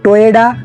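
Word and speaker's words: Toyoda: টয়োটা company 1937 সালে চিরো টোয়েডা শুরু করেছিল। হ্যাঁ, টয়োটা না, টয়োডা।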